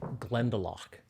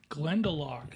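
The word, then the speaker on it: Glendalough: Bourbon barrels and it uh it is called glendalach glendalach yep drinks like it's a hundred bucks a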